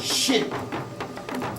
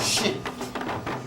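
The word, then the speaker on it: shn: It's a shin. S-H-N. If you put a little E in there, you can't pronounce it. A shin.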